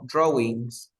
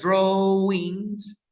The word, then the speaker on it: drawings: Animates, drawings. Drawings, Okay. drawings means dibujos. Okay. Okay. Recuerda que la W no se pronuncia, se dice draw y luego ings.